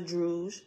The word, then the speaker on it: Druj: of a is a drouge rhymes with stood and B droop it's